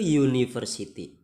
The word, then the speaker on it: university: Di situ meskipun hurufnya u, tapi cara bacanya adalah u, ya. U itu y, diawali oleh y, sehingga ini termasuk huruf mati atau huruf konsonan, sehingga menggunakan a university.